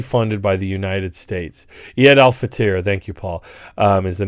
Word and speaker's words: Eid al-Fitr: Eid al-Fitr, thank you, Paul, is the name of the holiday, is how you say the holiday.